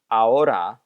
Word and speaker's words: ahora: This is ahora, once again skipping that H.